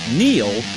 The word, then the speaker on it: Neil: It's no coincidence that Neil rhymes with deal, because that's something you can always count on with the leader in tires and auto repair for nearly a century.